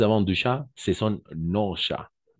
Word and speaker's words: nos: du chat ce sont nos chats non on va prononcer non d'accord le S le S on ne prononce pas ce sont nos chats